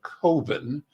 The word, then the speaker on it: Coven: I think most people see Cove. And so I like to think about it's an oven, not an oven.